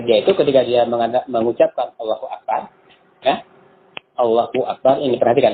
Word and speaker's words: Allahu Akbar: Jadi haknya ada 2. Ya kan? Allahu Akbar. Dipisah. Allahu Akbar. Kan yang benar itu harusnya Allahu Akbar. Allahu Akbar. Bukan Allahu Akbar.